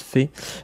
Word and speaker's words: Fe: Fée, oui, ça se prononce Fée.